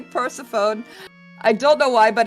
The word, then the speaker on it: Persephone: That's how I pronounce it, of course. People say Persephone, but Persephone is the...